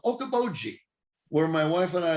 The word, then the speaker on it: Okoboji: It's a hard one to pronounce, and it is called Okoboji, Okoboji.